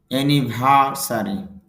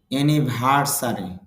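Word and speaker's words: anniversary: আর এখানে র সাউন্ড নেই, সুতরাং আর এর উচ্চারণটা এখানে হবে না, তাহলে হবে অ্যানিভার্সারি বার্ষিকী।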